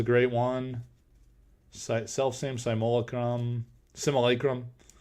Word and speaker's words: simulacrum: one self-same simole Chrome simulacrum so that is how you're supposed to pronounce it apparently oh orb of bell